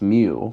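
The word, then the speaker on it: μ: This symbol, pronounced mu, which you've learned throughout this entire class, is a parameter.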